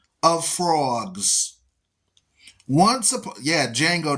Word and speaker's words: Django: Yeah, Django, the D is silent.